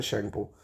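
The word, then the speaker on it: Tsangpo: शेंगपो T silent है।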